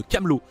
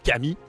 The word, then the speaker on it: Camelot: faveurs du roi de Camelot afin de l'empêcher de soumettre quiconque à des expériences similaires aux siennes. Sin salue sa résolution, mais lui précise que ça se prononce Camelot et non Camille.